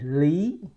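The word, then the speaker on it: Lý: say this one Lee so on the English document there's no accent mark on this last name but it need one okay so otherwise it's going to be a first name not the last name the last name come with the Yos set you know the accent mark the rising up accents mark on this one so we we say it Lee Lee so not Lee so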